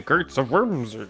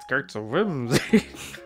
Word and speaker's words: Gates of Whimsy: helping me with the GTS of worser sure but what on Earth is a Gates of Whimsy you're still saying it wrong Gates of Whimsy they're unusual objects found